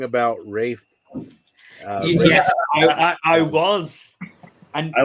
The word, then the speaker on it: Ralph: It pains me to admit that because it's Welsh, it is Rafe. Ugh. It's spelt Ralph, so.